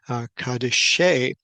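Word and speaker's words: קדישי: And here the word is Kof, Dalet, Yod, Shin with a final Yod at the end and be pronounced Kadeshe.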